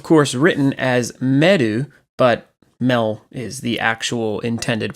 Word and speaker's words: Mel: Mel is of course written as meadow but Mel is the actual intended pronunciation of the name if you look at